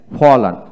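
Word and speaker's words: fallen: ফল ফল ফেল ফেল ফলান ফলান ফলের না ফলান হবে তারপর আসেন ওয়ার ও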